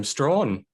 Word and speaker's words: Straughan: Okay, so so my surname's pronounced Straughan.